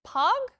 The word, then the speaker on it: Pog: Am I pronouncing that right? Is it Pog? It is Pog. Yes, exactly. You're exactly right.